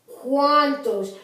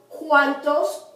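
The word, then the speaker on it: cuántos: And the U is pronounced as almost like our W. Wa. So this is cual. Cuantos. You don't say cual. You don't say cuantos. You say cual. Cuantos.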